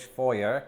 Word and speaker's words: foyer: standing right here the foyer or as it's pronounced in American English foyer and the first thing